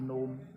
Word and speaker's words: gnome: तो GNOME नोम, नोम माने बोना। तो इसमें भी क्या है, जी का उच्चारण, प्रोनाउंसिएशन कहीं भी नहीं हो रहा है, इसमें भी नहीं हो रहा है, इसमें भी नहीं हो रहा है और इसमें भी नहीं हो रहा है ना।